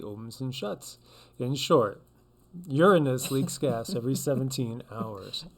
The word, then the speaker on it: Uranus: hard oh my god she said it's properly pronounced uranus i know i'm so